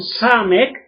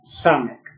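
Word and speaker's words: סמך: con sin, sino con Samek, entonces la Samek es otra S, y usted dice Samek, men final, ¿y cómo lee esa palabra?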